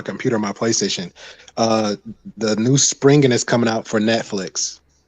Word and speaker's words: Spriggan: You said- Sprinkin. No, Okay. Oh, my bad. Spring. Springen. I'm pronouncing We it said wrong, bro. Spring. It's Springen. Just like spring, SPRIGGAN. Okay.